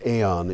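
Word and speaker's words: E.ON: Story of the Year Eon which is e do on or it's probably pronounced Aon in German Eon SE German's Germany's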